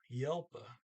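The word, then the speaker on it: hjelp: there's an h there starts with an h but it's silent i mean well h j is still a j so you call it silent and it's just it's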